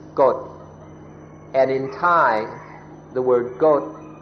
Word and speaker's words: กฎ: And what's very interesting, an interesting coincidence, is that if you pronounce the word in more long, you pronounce God. But if you shorten it, it's Got.